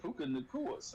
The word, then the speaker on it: Puka Nacua: I say it right, Puka Nacua.